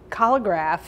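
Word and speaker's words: collagraph: how cholograph works uh colograph is a um it sounds like the word collage and that's exactly what it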